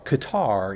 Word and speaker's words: Qatar: figure out is it gutter they basically Qatar is the it kind of sounds like guitar right it's kind it